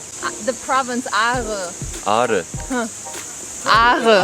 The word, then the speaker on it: Ağrı: I think it's not only me that it's so difficult to pronounce this R, like Aare. Can you say Aare? R. The province Aare. Ağrı. Aare. Ağrı.